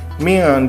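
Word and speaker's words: مِنْ: Nun mati bertemu dengan dal. Nah, ini kita namakan ikhfa, artinya samar. Jadi dibacanya sedikit samar ya. Min. Nah, seperti itu. Jadi enggak dibaca min, tapi min ya. Jadi samar dibacanya.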